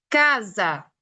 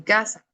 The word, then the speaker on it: casa: Para nosotros, cuando la S está en medio de dos vocales, déjenme que se los marco, aquí está. El sonido de la S es un sonido muy parecido a la Z, por eso yo lo